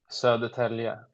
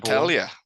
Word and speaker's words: Södertälje: Sudertal. Sudertal? Södertälje. That's where I was born. Södertälje.